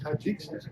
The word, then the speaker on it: Tajikistan: can say this right, from the Republic of Tajikistan or something. Sometimes the old Lucy episode. She made up all these names. How do you say it? Kyrgyzstan. With a T? Tajikistan. Tajikistan.